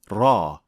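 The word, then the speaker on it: ر: properly now how is raw pronounced in the Quran to pronounce ra properly two organs will make contact with each other the tip of the tongue and the alvea ridge raw ra raw we'll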